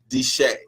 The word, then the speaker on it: Desha: my special guests I keep one of the mispronounced your name what's the name it's my hand always deshay deshay alright what you just DJ not like